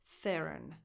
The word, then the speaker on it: Theron: Voiceless th, as in the word think. The, that's the defined, the stressed syllable. Theron. Run. The last O is just a schwa, because the stress, again, goes on the.